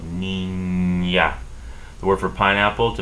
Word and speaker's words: niña: The ñe, which is N with a tilde on top, is pronounced as if there was a Y right after this N. Between the N and the A, there's a Y. So, niña.